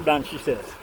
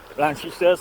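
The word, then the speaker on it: Blanchisseuse: That's blanche says blanchi says for you.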